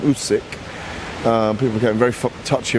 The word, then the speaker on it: Usyk: yesterday Tyson Fury and Alexander usk um yusk as I've called him and I should be calling him usk um people getting very